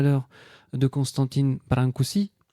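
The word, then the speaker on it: Brâncuși: On parlait tout à l'heure de Constantine Brankousi parce qu'on dit brankoui. Le S se prononce S hein comme dit Éric.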